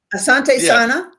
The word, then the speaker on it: asante sana: Now Asante Santa is that how you pronounce that? Uh Asante Sana it's Thank you very much in Swahili.